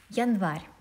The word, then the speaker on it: январь: Январь. Январь is also я here is unstressed. That's why we don't pronounce it fully. We say и.